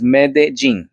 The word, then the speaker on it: Medellín: Uh I'm not going to get mad at you since you cannot pronounce Medellín properly, but it's Medellín, okay?